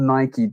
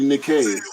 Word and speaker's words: Nike: because it's definitely called Nike. I know there's a misconception when you read it like Mike, it's Nike. It's not, because the way it's supposed to be pronounced is after the Greek god Nike.